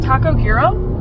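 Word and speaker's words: Taco Giro: so we decided on a mexican place called taco gyro or at least i think that's how it's pronounced g-i-r-o g-i-r-o so and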